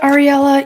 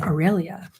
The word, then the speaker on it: Aurelia: You know what, Ariella? You're next. I say your name wrong. It's Aurelia. And I keep saying Ariella. It's Aurelia. Okay.